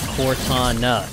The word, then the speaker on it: Cortana: i'm coming with you jab is a one-syllable word that's why but cortana cortana three syllables core i think we